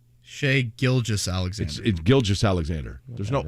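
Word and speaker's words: Gilgeous: did you say it how did you say gildras Alexander there's no R in there Shay gilgis Alexander giljas Alexander there's no R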